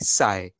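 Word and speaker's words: ψ: अगले वाला में पी सिंबल साइलेंट है, तो फाय, काय, साय, ओके?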